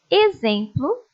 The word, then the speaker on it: exemplo: Agora vamos conhecer as palavras com som de Z. Leiam comigo. Exuberante, êxodo, exalar, exemplo, exercício.